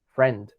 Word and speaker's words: friend: Te brincas directamente de la R a la E, friend, así tal cual.